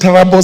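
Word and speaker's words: Turbo: Trubo sub-county, it's pronounced Tarabo sub-county, Paul Boyd Boys High School at 8 a.m.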